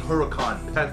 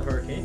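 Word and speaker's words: Huracán: dream car yeah um the lamborghini huracan format not the hurricane bro you know pack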